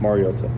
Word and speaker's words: Mariota: um which is incorrect and it's pronounced mariota. Mariota. Yeah. All right. Thanks, dude. So, the emphasis goes on the O mar first not may marota.